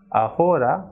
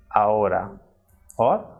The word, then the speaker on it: ahora: actually it is edge Archie is always silent in Spanish word so even though we will write this F of it by trial pronounced thing it will remain silent for example it is not Honduras what it is on Dora's and not ahora but it is our or hombre same way I